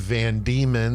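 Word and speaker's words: Van Diemen: actually is though cuz some guy was named Van demon not spelled the same way yeah it's uh not spelled it sounds like demon like we think of so demons land I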